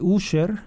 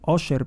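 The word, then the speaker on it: Usher: Sol de México e el cantante user oser Perdón se pronuncia adelanta que eh repasará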